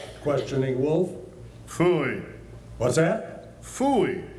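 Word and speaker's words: pfui: Phooey. It can be spelled several ways. I spell it P-F-U-I.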